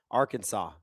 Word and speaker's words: Arkansas: Patrick Patatrick says, "Fun fact, the French are the reason we pronounce it that way." Arkansas.